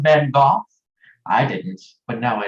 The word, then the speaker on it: Van Gogh: Did you know it's pronounced Van Gogh?